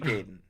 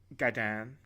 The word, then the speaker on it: Gaiden: pronounced instead of the name Ninja Gaiden, I pronounced it Ninja Gaiden, and the guy working there was like, I think you mean Gaiden.